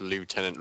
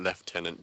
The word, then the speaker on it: lieutenant: it a leftenant what we pronounced the word lie tenant left tenant just to be different from French people that's literally why we